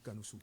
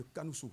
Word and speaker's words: Kanoussou: Kanoussou. Kanoussou. Lui, il prononce ça en abomé. Oui, Aristide de Kanoussou. Voilà, ça Bon, c'est en fait, l'abomé. c'est le... comment on dit, c'est le ton véritablement aboméen.